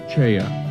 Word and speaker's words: Choi: Grand Master Choi Yong-sool. His name is spelled as Choi in English, but pronounced Ch'oe in Korean.